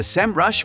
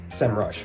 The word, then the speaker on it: Semrush: but i'm from america i know a lot of the europeans and folks outside of the states say senrush but i say sem rush semrush of course i